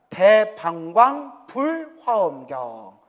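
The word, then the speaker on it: 대방광불화엄경: 그래서 대방광불 화엄경이라고 하죠 정확하면 대방광 불 화엄경 이게 정확한 이제 발음이래요 화엄경이 보살은 어떻게 닦아야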